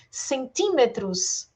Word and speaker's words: centímetros: Centímetros também é proparoxítona, centímetros, ó. Última, penúltima, antepenúltima. Sílaba mais forte, antepenúltima. Centímetros. Artísticos também é proparoxítona, ó.